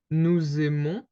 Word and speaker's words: nous aimons: Then we have nous aimons, okay? So you can hear the S because we kind of do this little link between the two words.